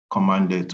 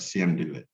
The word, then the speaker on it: cmdlet: It's interactive, base-oriented command environment with a scripting language features that utilize small program called commandlet, or some would pronounce it as CMDlet.